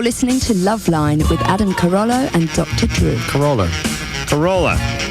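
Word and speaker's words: Carolla: Carollo. She said it right. See that, Drew? I screwed up your ears I there. heard Corolla again. Yeah, because you were saying it like a mantra. Corolla, Corolla, Corolla.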